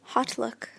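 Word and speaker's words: HauteLook: Oh, it's spelled like all different because they couldn't. They probably couldn't. Somebody else. No, because it's haute couture.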